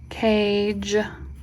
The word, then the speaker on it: cage: Cage. Again, so now this silent E is doing double duty. It's making A long and it's softening the G.